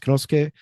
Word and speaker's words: Kanosuke: So before we get into Konosuke, which so it is pronounced Konosuke Correct. as best as I can. You'll see it as Kanosuke or Kanosuke if you're writing it out.